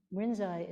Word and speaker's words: Rinzai: and the other was lynchi so if you rinzai is the Japanese pronunciation of linchi and we are also a